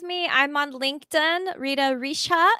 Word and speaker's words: Richa: And if you want to stay in touch with me, I'm on LinkedIn, Rita Richa. It looks like cha, but it's a sha, just like how it's spelled below.